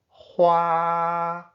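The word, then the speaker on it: 花: Hua, huar, flowers. Besides the huar given to girlfriends, the beautiful patterns on latte coffee are also huar, hua, huar, painting.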